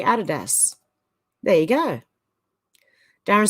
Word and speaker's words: Adidas: few people that pronounces Adidas correctly the owner was called Adolf dassler but known as Addie hence his nickname Adidas and his company Adidas there you go Darren